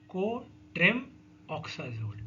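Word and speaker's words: co-trimoxazole: को ट्राइम ऑक्साजोल, को ट्रिम ऑक्साजोल, ठीक है। इसको बोलते हैं कोट्रिम ऑक्साजोल। कोट्रिम ऑक्साजोल इज द करेक्ट प्रोनाउंसिएशन, ठीक है।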